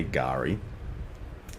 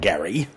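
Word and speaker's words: K'gari: lot of people um it has officially had a name changed to Gary so silent k Gary not Gary as some of my fellow countrymen refer to it you know you you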